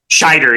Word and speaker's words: Scheider: Roy Schneider was schne am I mispronouncing shider shider shider yeah shider yeah think Shy and